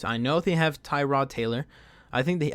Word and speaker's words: Tyrod: know if they have Tyrod Taylor I think the I think he likes his name to pronounce Terada I'm gonna go with Tyrod no offense if you're